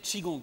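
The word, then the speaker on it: qigong: qu'on peut faire regardez ça s'appelle kigong comme ça mais c'est chigong qu'il faut dire chikong ouong ça s'écrit qui ça se prononce chi voilà exactement très bien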